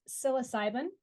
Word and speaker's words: psilocybin: me because I googled this even and hit pronounce psilocybin am I pronouncing that correctly that's correct yes